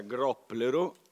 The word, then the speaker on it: Gropplero: Gianfranco Pannone e Andrea groppero e meno male che ho incontrato Andrea poco prima perché sennò avrei sbagliato tragicamente il l'accento sulla o e volevo presentarvi Intanto